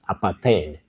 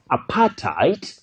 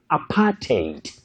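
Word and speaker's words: apartheid: right uh and privileges you don't say aparttheed apat common but wrong you say apartite or apartate that is a way to pronounce that word correctly apartite or apartate then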